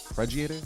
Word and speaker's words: arpeggiator: The arpeggiator?